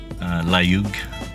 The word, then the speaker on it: Layug: Layug.